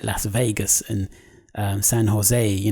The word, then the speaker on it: San Jose: like Las Vegas and San Jose, because in Spain you don't pronounce the J's, it's Jose as opposed to Jose or Jose. So San Jose, Las Vegas, California, San Francisco, Nevada, those are Spanish names.